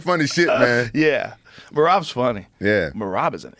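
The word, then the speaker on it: Merab: Mohab? What's that name? How you say his name? Which one? The guy, I thought he was Mexican. Marab? Yeah, Marab.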